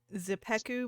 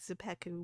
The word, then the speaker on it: Czepeku: Uh, this map creator group's called Zepeku Maps. It's CZEPEKU. At least I think Zepeku would be a sort of accurate-ish pronunciation.